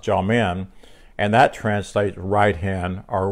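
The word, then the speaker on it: jamin: faith and it's gentlemen j-a-m-i-n pronounced jaw-men and that translates hand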